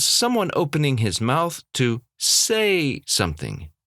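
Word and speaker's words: サ: Sa. This is easy to confuse with the hiragana se. In fact, it looks like the mirror image of that se. Unfortunately, it is pronounced Sa.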